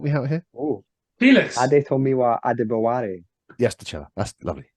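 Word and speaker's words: Adetomiwa Adebawore: In which case, I'm going to go for the guy I can't pronounce his name. Adomiwia. Can someone help me out here? Oh, Felix. Adetomiwa Adebaware.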